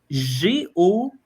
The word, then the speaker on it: Gojsi: mais pour votre info c'est g o j s i et ça se prononce Go fait que j'ai vraiment